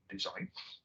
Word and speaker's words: Dezyne: doing that by making a language called design so it is actually about it's spelled the wrong way of course but it is